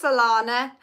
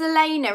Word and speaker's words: Elena: Oh, thanks, Alana. Or is it? It's Elena, isn't it? Because I'm just looking at the way it's spelled. It's Elena.